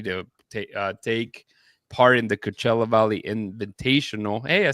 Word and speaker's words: Coachella: Just started week 2 as they get ready to take part in the Coachella Valley Invitational.